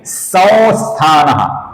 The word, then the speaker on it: संस्थानः: यहां पर स के ऊपर अनुस्वार है और स के आगे स्था का स आया हुआ है। यहां पर हम अनुस्वार का अपूर्ण वो ऐसा उच्चारण करते हैं जो बहुत ही हल्का उच्चारण होता है, अर्थात यहां पर हम सम भी नहीं बोलेंगे, सन भी नहीं बोलेंगे, यहां पर हम उच्चारण करेंगे संस्थानः। फिर से देखिए संस्थानः, संस्थानः।